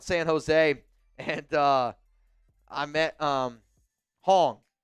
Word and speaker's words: Hoang: His name is spelled Hoang, and I would always say Wong. because I thought it was an Asian name, and I thought I was doing good. He's like, bro, you always say my name wrong.